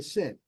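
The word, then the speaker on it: שין: like pause we've got the sin S as in sin and that's actually the name of the letter sin so we're on the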